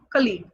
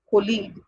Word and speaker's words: colleague: So this is always mispronounced as colleague. We introduce our friend in our workplace like, hey, she is my colleague, or he is my colleague. It's not colleague, it's colleague.